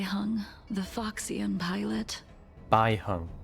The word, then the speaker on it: Baiheng: hung the foxan pilot B hung that's how you pronounce it B hung I think I've seen